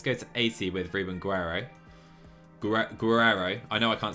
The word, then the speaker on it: Guerrero: Yeah, Bogan, I can't make that R sound. The rolling R. Can't say it. Guerrero?